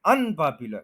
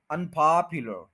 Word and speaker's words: unpopular: का ऑपोजिट है अनपॉपुलर, ये बोलते हुए हम क्या करते हैं, अन के ऊपर स्ट्रेस कर देते हैं, अनपॉपुलर, ये गलत है, अन के ऊपर स्ट्रेस नहीं करना, स्ट्रेस उधर पॉप पे ही रहेगा, अनपॉपुलर, अनपॉपुलर, अनपॉपुलर, अनपॉपुलर,